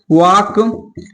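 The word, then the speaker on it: walk: है, तो बताइए कि अगर एल के बाद 4 लेटर है, क्या है, अगर एम आए या एफ आए या के आए या डी आए तो वहां पर एल का उच्चारण नहीं किया जाता।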